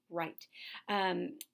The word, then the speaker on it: Wright: Wright, spelled with a W, Wright. Right.